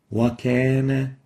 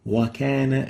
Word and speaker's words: وكان: a fatha, you might tend to decrease that pursing. So it will be like wakana, and this is wrong. Wakana is wrong. It should be wakana. So let's listen to the right way of pronouncing it from Sheikh Al-Hasari. وكان Wakana, wakana. So make sure to purse the lips enough.